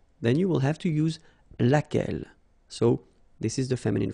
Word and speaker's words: laquelle: So basically same rule, Q-U, U is not pronounced here, and then you've got this double L-E, well, phonetically here, it is the same as what we have here, so laquelle.